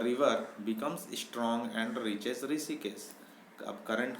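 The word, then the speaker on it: Hrishikesh: ऋषिकेश। ऋषिकेश का स्पेलिंग आप लोग देख लीजिए, ध्यान में रखिए, एच से स्टार्ट होता है, HRI, और एच साइलेंट है।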